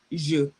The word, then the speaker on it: je: It's pronounced je.